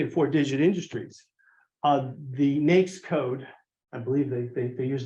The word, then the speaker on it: NAICS: and 4-digit industries, the NAICS code, I believe they use the word, I think they believe it always rhymes with snakes, is NAICS.